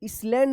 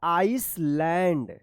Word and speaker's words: island: For many hours the next morning he reached a small आइसलैंड, इसलैंड मत पढ़िएगा, इसको पढ़ा जाएगा आइसलैंड।